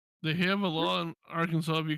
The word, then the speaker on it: Arkansas: I don't like that Kansas is spelled the way it is and pronounced Kansas, but Arkansas has Kansas in it and it's pronounced Arkansas.